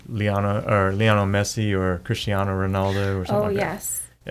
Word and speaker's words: Cristiano: figur it be Lano or Lono Messi or Cristiano Ronaldo or something oh yes okay I've heard those names and I know who Christian how do you say it say it Cristiano